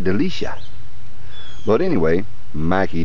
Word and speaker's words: Delucia: I believe it's pronounced Delucia. Might be Mike Delucia.